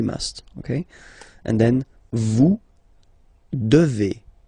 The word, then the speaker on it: devez: And then vous devez. Remember, classic ending for vous here, a Z, but then you pronounce this combination of two letters, et, devez, devez.